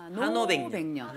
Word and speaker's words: 한오백년: 데 자 한 500년 제가 발음을 어떻게 하고 있어요? 한오 한 500년이죠. 한 500년. 그죠? 한 500년이지만 자 우리가 읽는 발음으로 노래를 해. 한오백년. 한오백년. 한오백년. 그래야 목에 힘이 안 들어갑니다.